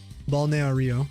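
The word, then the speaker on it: Balneário: Balneario is how you say it.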